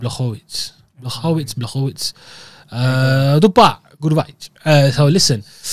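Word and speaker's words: Błachowicz: Shout out the pronunciation on that, bro. Thank you, Mizza. Blachowicz.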